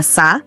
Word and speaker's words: 사: El 4, que se pronuncia Sa, se asocia con la palabra sarang, que significa amor.